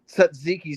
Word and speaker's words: tzatziki: And is it wrong to ask for extra tzatziki sauce?